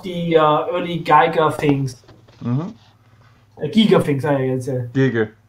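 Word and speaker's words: Giger: Giga things, I guess. Giga. Geiger, Giga. It's a German name, it's Giga.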